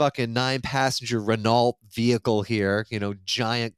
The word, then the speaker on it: Renault: Renault. Renault. Rena. Renault. Renault. Renault. Oh, yeah. Yeah. Because the a l is silent. It's more It's more uh French. They say it more French. Yeah. Renault.